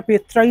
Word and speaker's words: পেত্রা: জর্ডনের পেত্রা বা পেত্রা যদিও উচ্চারণটা পেত্রাই হবে পেট্রা হবে না তবুও যাই হোক যেটাই